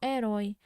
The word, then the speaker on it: herói: Quando a gente lê só habitar. A gente lê só herói. A gente lê só homem, como se não houvesse a letra H.